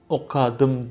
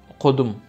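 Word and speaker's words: okadym: Mesela okadım yazıyor değil mi? Ama bunu çoğu kişi hemen hemen kimse demeyeyim de çoğu kişi okadım demez. Okudum.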